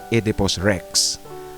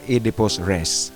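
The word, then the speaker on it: Oedipus Rex: Ah kung nabasa niyo yung kwentong edipos rest, ang title niya kung babasahin mo literally edip rex. Ah edipos rest ang tamang pag ah bigkas niyan.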